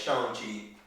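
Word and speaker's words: Shang-Chi: we getting the shame that's how you pronounce it by the way it's not shang it's showing cheap but uh yeah we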